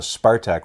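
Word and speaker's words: Спартак: And people might be saying, well, if it's called a Spartak, why is it a C? But in Russian, C is the S sound. So Spartak would be spelt with a C.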